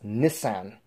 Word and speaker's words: Nissan: r34 GTR s or for you guys over there in England you guys say it as Miss an but I think that's kind of a kind of unusual way to pronounce it but uh that's the